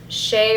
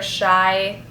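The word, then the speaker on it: Shai: These are the Shea or Shy, S-H-A-I is how you spell it, 6 blade ones, 3+3 blades.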